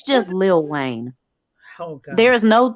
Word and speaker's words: Lil Wayne: It's almost like LUH, Lil. Lil Wayne.